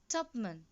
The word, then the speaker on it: Tupman: Children, you must pronounce it as Tupman.